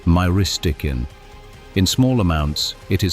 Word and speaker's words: myristicin: Nutmeg contains a compound called Myristicin, which is pronounced Myristicin.